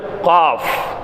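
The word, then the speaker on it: كاف: மைல்டான ஒரு கேப் கொடுத்தா தான் ஃபான்கிறது உங்களுக்கு உச்சரிக்க முடியும். அடுத்து காஃப். ஃபாவுக்கு வந்து வைலுல்லில் முத்தஃபிஃபீன் எல்லாம் சொல்கிறான். வைலுல்லில் முத்தஃபிஃபீன் ஃபா. புரியுதுங்களா? அடுத்து காஃப்.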